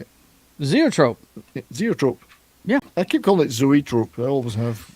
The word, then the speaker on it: Zoetrope: And based on that, he made a deal with Warner Brothers for American Zoetrope. Oh, yeah, I can't say it. Zoetrope.